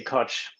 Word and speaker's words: Koch: pronounced but uh I I say Koch I'm a coach the coach also has